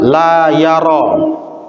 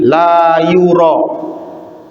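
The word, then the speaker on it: يُرى: Al-masyhur dhammul ya. Yang masyhur adalah bacanya dengan didomahkan ya-nya. Didomahkan ini dibaca u. Jadi bukan la yara, tapi la yura.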